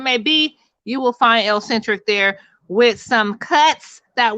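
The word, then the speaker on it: ElleXentric: It is L-centric. It is spelled E-L-L-E, capital X, E-N-T-R-I-C. So make sure that you go ahead, pull that up.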